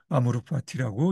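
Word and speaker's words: amor fati: 라틴어로 운명의 사랑은 아모르 파티인데 이렇게 쓰고 아모르 파티라고 읽죠.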